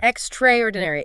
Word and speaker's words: extraordinary: Lisa points out the a from extra kind of disappears and you lose a syllable. The stress lands heavily on trayor. Extraordinary. Extraydinary. Exactly.